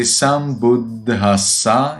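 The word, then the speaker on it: sambuddhassa: So Buddhang, like we had previously, sambuddhasa. You see, you need to at the D for a little while. Be careful about these H.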